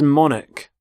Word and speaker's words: monarch: and here is the monarch of the United Kingdom the current queen so monarch so the CH there makes the sound Manik the start of the